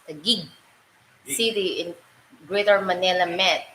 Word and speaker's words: Taguig: Papi Pangit, Pili, Taguig is pronounced Taguig. City in Greater Manila Met. We found S in our house the other day. Never been Taguig. Targig.